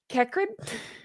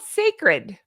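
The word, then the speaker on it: Cécred: I would say, hey, have you heard any reviews on Kekrid? No. It's called Sacred, but they spelled it like that. Okay. Yeah, that's a choice. That's something that they did. Sacred, but spelled like that.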